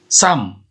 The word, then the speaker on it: SUM: yaitu dengan menggunakan menggunakan rumus Sam Samin tulisannya sum sensasi tulisannya Tapi bacanya harus Inggris sampai Hai Bisa juga